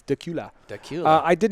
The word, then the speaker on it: Dacula: do you say Dacula duck you like Dracula no are but how it's spelled but yeah it's Dacula that cute I did